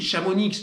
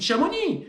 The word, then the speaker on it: Chamonix: On ne prononce pas le Z, on ne prononce pas le X à la fin des toponymes et des patronymes savoyards ou aux savoyards.